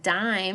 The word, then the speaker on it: dime: So in the word dime, if you listen closely, the E is silent, but it's making the I before it say its name.